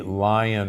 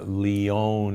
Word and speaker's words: Lyon: humans which was called The Lion Heart Diet or the Leon Heart Diet l-y-o-n but most from Lyon France but most people pronounce it lion there that diet in